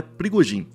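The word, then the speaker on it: Пригожин: No vídeo de hoje, a gente vai falar de Prigozhin, o jeito certo de falar é Prigozhin.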